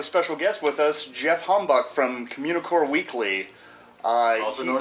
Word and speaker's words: Heimbuch: Heimbuch. Is that how it is? That is how you actually pronounce it, yes. Whatever, I'm never doing that, but... That's fine, I don't care. More of a phlegm. Heimbuch.